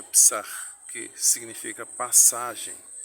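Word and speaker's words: Pesach: Psar ou psch, a transliteração em português, mas se pronuncia psar, que significa passagem.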